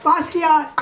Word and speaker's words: Basquiat: Basquiat and Warhol.